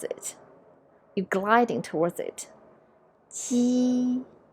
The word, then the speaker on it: 鸡: Now, when you see these, you tend to pronounce jeep, jeep. But in English, the jeep sound is by bunch up your tongue. But in Mandarin Chinese, it's a little bit different.